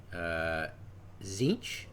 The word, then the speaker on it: Tzeentch: They're like the Chaos God Tzeentch. I looked that up. That's the proper pronunciation.